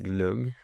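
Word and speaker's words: glögg: impossible so sure next I'm sure I will pronounce this again wrong it's Cava or Glo glug glug yes glug it sounds I know sounds good it's like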